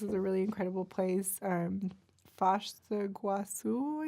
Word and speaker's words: Foz do Iguaçu: Foz do Iguaçu, I think is how you pronounce it properly in Portuguese.